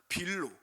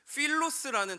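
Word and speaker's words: φίλος: 자 여러분 그러면 그다음 빌로. 여러분, 이것도 한글로는 빌로라고 되어 있지만 사실 원어적인 발음으로 단어로 보면은 필로스라는 단어를 써요.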